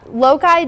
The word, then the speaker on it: loci: Or loci, I think is actually how you pronounce it.